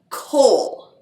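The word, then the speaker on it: kohl: real life they used a cosmetic powder called coal k o h l it's actually kind of like the storicles is how it's spelled but coal was this black powder and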